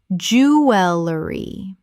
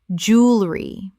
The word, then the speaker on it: jewelry: Jewelry. Correct pronunciation. Jewelry. Only 2 syllables in natural British English speech. Americans say jewelry with 3.